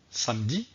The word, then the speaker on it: samedi: mercredi alors savez vous pourquoi je prononce le e dont le mot mercredi et je ne prononce pas le e donc le mot samedi dans cette leçon nous